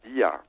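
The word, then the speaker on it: Δία: muss auch wissen, also Zeus wird eigentlich in Griechenland nie als Zeus ausgesprochen oder als Zeus, sondern eigentlich immer als Dia.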